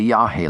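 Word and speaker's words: yagé: Burroughs wrote the word yahi without an accent, as if it rhymed with age. But it's properly written Yahhei with an accent and pronounced as Burroughs knew Yahi.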